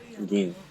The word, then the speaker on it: Gin: Gin.